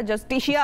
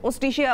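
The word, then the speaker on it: Justitia: जस्टिशिया award है या ओस्टिशिया award है, तो इट इज ओस्टिशिया award basically. J is silent.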